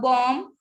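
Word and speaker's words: bomb: ठीक है, बॉम्ब, म पे आप अपनी प्रोनाउंसिएशन ऐड करेंगे.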